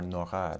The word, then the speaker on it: Nora: French intellectual Pierre Nora, or Nora to give it its French pronunciation, called the lieu de mémoire, translated either as sites of memory or realms of memory.